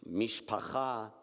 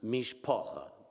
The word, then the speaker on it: mishpacha: Mishpacha in Southern Yiddish is pronounced Mishpocha in Mississippi.